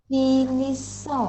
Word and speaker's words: finissons: Nous finissons. Oh, Right? finissons. How do you pronounce that word?